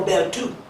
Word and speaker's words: Bertiaux: My ex-girlfriend is got a master's in French, and she said it's pronounced Michael Bell too.